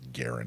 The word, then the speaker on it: Garand: And in an interview about the article, he said that the family pronounces it Garand.